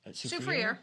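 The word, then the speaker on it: Soufrière: Soufriere.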